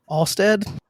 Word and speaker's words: Alst: with type two players Tyler Stevens and alad did I say it right you did yeah